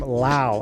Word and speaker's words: Lau: Stanley Artgerm Lau. I said Lee. Excuse me. I'm a big Artgerm guy, and I'm getting his name wrong.